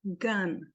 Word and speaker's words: gun: Gun. Né? Escreve com uma letra, mas fala outra coisa.